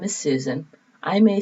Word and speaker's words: Susan: well my name is susan i may say susan s-u-s-a-n some people hear my name as suzanne which is spelled differently so i know i'm